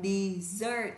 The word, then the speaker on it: dessert: Từ thứ hai, từ này đọc là dessert, trọng âm thứ hai.